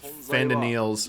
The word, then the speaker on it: Fandaniel: I forget how they pronounce it. been Sorry. Fandaniel.